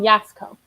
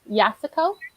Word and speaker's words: Yasuko: audiobook was yasuko um they pronounced it in the audiobook yasuko oh yasco yasuko yeah got it thank you